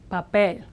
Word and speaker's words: papel: A word that ends in a consonant in Spanish is naturally stressed on the last syllable, papel.